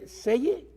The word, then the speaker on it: Zelle: Estoy pronunciándolo en inglés, pero es Zelle, Z-E-L-L-E.